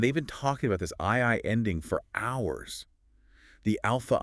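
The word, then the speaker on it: 愛: And the Japanese word for love is I. spelled A-I. AI. Pronounced I.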